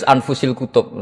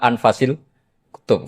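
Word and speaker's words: أنفس الكتب: Di sini ditulis anfusil kutub. Selalu saya baca anfasil kutub karena maknanya kitab ter baik. Kalau kitab terbaik bacanya bukan anfus tapi apa? Anfas.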